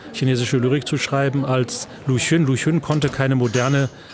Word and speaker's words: Lu Xun: Wie wird er ausgesprochen? Lu Xun.